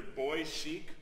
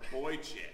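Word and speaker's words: boychik: And it's either boy chic or boy chick. Boy chick. Boy chick. Boy chick. Boy chick. Boy chic would be a very different thing.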